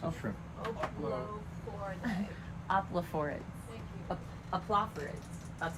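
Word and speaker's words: Oplophoridae: Aplophorids.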